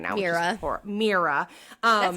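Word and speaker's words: Mira: her name right now merera um that's how I pronounce it again I these are how that's how the audio book said it that's how the audio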